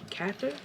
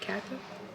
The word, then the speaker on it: Cather: So this is Will Catherther Cather. That's how you say it. Cather Cather will Alexander's Bridge introduction by Bernice Stole Slope.